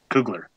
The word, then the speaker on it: Kugler: Kugler.